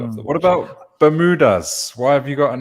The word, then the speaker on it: Bermuda: What about Bermudas? Why have you got an S on the end? Yes. This is just my personal taste. The proper pronunciation would be Bermuda, but to me, the Bermudas are islands, so I chose plural.